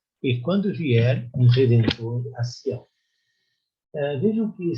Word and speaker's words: Sião: vier um Redentor a Sião. Vejam que sempre se refere a Sião, ou Zion, em outra pronúncia.